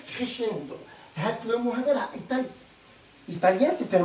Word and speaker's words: crescendo: Alors, ça s'écrit crescendo et ça se prononce crescendo.